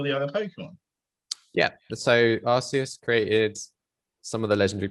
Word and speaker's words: Arceus: Arceus. I cannot believe that game is pronounced like that.